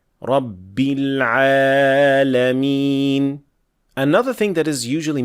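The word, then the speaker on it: رب العالمين: Saying Rabb with sukoon, Rabbil Alameen, while it should have a clear kasra, Rabbil Alameen. So not Rabbil Alameen.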